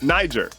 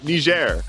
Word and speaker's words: Niger: American English speaker and in American English it's Niger but apparently locals say Niger and so is it